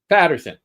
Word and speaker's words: Paterson: How do you say that? Patterson.